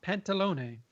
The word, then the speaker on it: Pantalone: How does that pronounce, Joe? Pantalone.